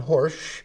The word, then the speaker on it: Horejsi: Horsch. Thank you. Got it Correct. right? That's correct. Rhymes with Yes.